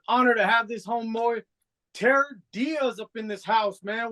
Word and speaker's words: Tierre Diaz: Yeah, But it's pronounced Tierre Diaz, right? Yeah. Yeah, like Tierre Diaz. So like Pierre.